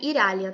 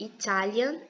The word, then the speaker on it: Italian: Não é Iralian, tá, gente? Não pronuncia Iralian, não. É Italian mesmo, bem fraquinho, bem suave.